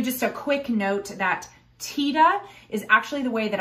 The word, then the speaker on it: Tiede: before we continue just a quick note that tita is actually the way that i've heard bernie pronounce his own last name there's a lot